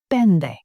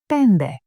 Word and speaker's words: πέντε: Pende. Pende. With ni, taf, nt, pronounced as nd.